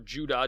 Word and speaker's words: Judah: over by his son Judas or Judah depending on if you've heard the Greek or Hebrew pronunciation Maccabees and he led